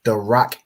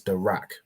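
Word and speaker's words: דרך: So da, and then the ra and the ka are joined, signified by this upside down arch, joining these two letters together to make rak. So da rak.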